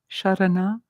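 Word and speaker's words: śaraṇa: The tongue is curling back and touching the palate, the top palate. Sharana, sharana.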